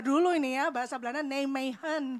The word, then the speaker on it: Nijmegen: Saya belajar dulu ini ya bahasa Belanda Nijmegen bacanya.